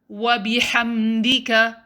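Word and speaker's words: وبحمدك: to focus is ha don't say ha say ha wabi hamdika it's not wabi hamdika rather next make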